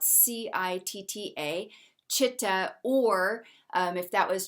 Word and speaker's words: chitta: a vibrational spectrum so in yoga it's called chitta it's spelled c-i-t-t-a chitta or um if that was translated roughly speaking